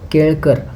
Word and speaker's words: केलकर: इंसान है यहां पर मराठी में इसको केलकर ऐसे बोला जाता है ल बोला जाता है बहुत सारे हिंदी मीडियम लोग उसको ल इसको प्रोनाउंस नहीं कर पाते तो एगजैक्टली हम उसको